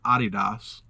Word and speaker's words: Adidas: The last item is a pair of Adidas or as I hear the correct pronunciation is Adidas Niza 101 Dalmatian platform shoes.